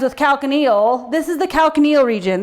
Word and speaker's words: calcaneal: telling you is that calcaneal rhymes with heel and it's your heel which rhymes with popliteal which is the back